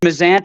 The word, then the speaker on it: Mazzant: last name uh it's it's mazant it's the americanized version i always tell people p-i-z-z-a how do you say